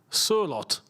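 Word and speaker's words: Sørloth: Sorloth is pronounced Surlot.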